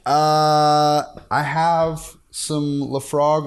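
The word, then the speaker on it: Laphroaig: You say Lafroig? See, I'm learning right now. That's how I supposed to say it. Apparently that's how you say it. That's how they say it.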